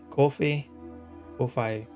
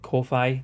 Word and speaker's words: Ko-fi: It is coffee, like, or buy me a coffee type of thing. But like, it looks like Ko-Fi.